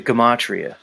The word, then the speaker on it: Gematria: with the with the Gematria see I even know how to say it guys it's Gematria I know it you know you come at me I know it's Gematria I'm just not buying